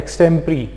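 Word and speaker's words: extempore: हैं उसी तरीके से इसको बोला जाता है extempri ठीक है अब वो क्यों बोला जाता है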